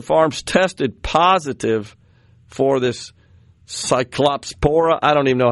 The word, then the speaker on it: Cyclospora: Okay, Cyclospora. So I had the accent in the wrong place, which that's one of those.